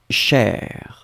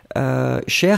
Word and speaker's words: cher: really good, the fact that cher can be in the masculine form or in the feminine form. In that case, it was the feminine form, but it could be the masculine too, and it's pronounced exactly the same way.